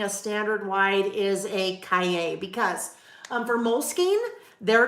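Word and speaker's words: cahier: c a h i e r that is pronounced Cay like yippy Cay um I learned that because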